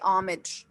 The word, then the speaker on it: homage: all right uh i've heard it pronounced uh those two different ways previously all right so we can say uh say it again the way that you said it okay or we can say homage all right so let's